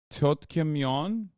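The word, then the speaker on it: 떡볶이: Tteokbokki.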